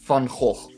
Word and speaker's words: Van Gogh: It's Van Gogh. Van Gogh. Okay, because the G would make a "h" sound as a Dutchman. Yeah. Okay, it's a hard G.